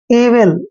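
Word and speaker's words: evil: वी आता है तो ई का उच्चारण ई करते हैं, और वह को हमने वह पढ़ना है, आई को छोटी की मात्रा पढ़ते हैं, और एल का उच्चारण ले करते हैं। एविल, एविल होता है बुराई,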